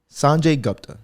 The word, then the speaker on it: Sanjay Gupta: story on it so sanjay gupta or gupta sanjay gupta that's the right way to say it um